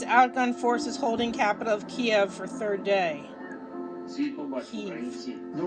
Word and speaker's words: Kyiv: It says Ukraine's outgunned forces holding capital of Kyiv for third day.